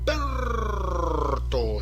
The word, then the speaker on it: Berto: last week against Andre Berto see that's like a way better name to say if you're Bruce Buffer the announcer guy Andre Berto see you got to really roll that R if you can um you know but